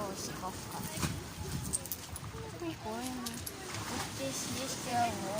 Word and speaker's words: Осиповка: Я уже запомнил, как правильно говорить. Осиповка. Вот так. Осиповка.